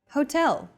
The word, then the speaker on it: hotel: subway on console next hotel see that in portuguese h as the first letter is always silent except for specific foreign loanwords for a specific hotel do